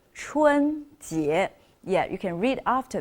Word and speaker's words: 春节: That is the Spring Festival, and you can see it's pronounced 春节.